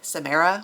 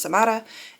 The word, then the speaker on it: Samara: I was saying it the very white lady way of like Samra, which they make a point of highlighting in here. She is Cuban, so she and her family say her name is Samara, and all of the white people say that her name is Samira Martin, but it's Samara Martin.